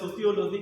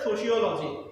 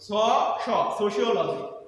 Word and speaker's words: sociology: কেউ বলে সোশিওলজি, কেউ বলে সোসিওলজি, কেউ বলে সোশ্যালজি। আসলে এইটার অ্যাবসলিউট উচ্চারণ হচ্ছে সোশিওলজি, সোশিওলজি।